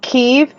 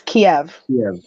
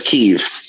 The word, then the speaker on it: Kyiv: Technically, okay, so the thing with that is the Ukrainians pronounce it Kyiv, and the Russian pronunciation is Kiev. So it's Kyiv.